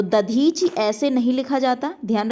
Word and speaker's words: दधीच: और दधीच में ध्यान रखिएगा दा का प्रयोग किया जाता है, दधीच, तो वही शब्द क्या है, शुद्ध है।